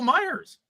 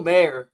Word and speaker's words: Mayer: went Brock Bowers actually they just got Michael Myers wow two years in a row what Michael Mayer Michael mayael wrong guy yeah yeah and neither